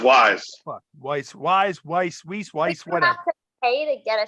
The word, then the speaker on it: Weis: their carts like that I think it's pronounced Wise Wise Wise Wise whatever